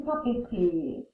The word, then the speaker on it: papeterie: Next word is une papeterie. This is a store where people go to get paper and paper supplies. We pronounce this une because it's feminine. Papeterie, like a tree outside.